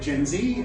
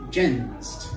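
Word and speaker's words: Gen Z: Um, I know in America like the ladies call it jenzee. Uh, here it's pronounced gensed, which sounds kind of like an affliction.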